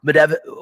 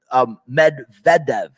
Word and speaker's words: Medvedev: up against uh uh medev i can't i always mess up his name i think it's medvedev is the way you pronounce it in russia um he was the